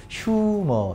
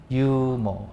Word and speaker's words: humor: 유머. 되지. 휴머라 읽지 마.